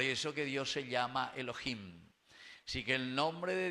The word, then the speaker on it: Elohim: Se escribe y se dice Elohim.